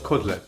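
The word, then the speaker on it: kotlet: We pronounce it differently, right? Say it. Cotlet. Cotlet, right. So I feel like a lot of people are used to chicken cutlets.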